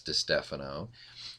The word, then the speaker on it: DiStefano: And by the way, that is how you pronounce it, is DiStefano. And there's different pronunciations in different areas, I'm sure, but ours is pronounced that way.